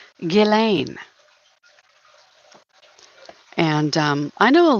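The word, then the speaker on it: Ghislaine: it they pronounce it the s is silent it's not jizzlain like a jiz bucket no it's gillain that's how they pronounce it very fancy very unique name Gileain.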